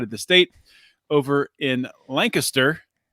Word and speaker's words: Lancaster: the state over in Lancaster that's Lancaster not Lancaster Pennsylvania right it's the only one in the country mispronounced exactly exactly and uh where